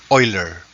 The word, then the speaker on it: Euler: e was chosen to honor the mathematician leonard euler pronounced as euler tagalog logarithms natural logarithms natural logarithms